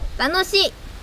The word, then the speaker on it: 楽しい: 楽しい楽しい楽しい楽しい楽しいです楽しいです楽しいです Yes Yes Cool So, is it the last one?